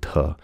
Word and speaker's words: Teh: So if you pronounce it here, the Book of Tao and Te, T-E-H instead of D-E.